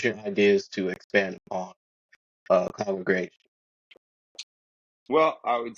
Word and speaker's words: Kongregation: Congregation, like Congregation. any Um, congregation, but mine's with a K because I'm Kong.